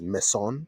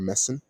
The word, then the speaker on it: meson: Meson like a bzon. Is that how you pronounce it? Meson or meen.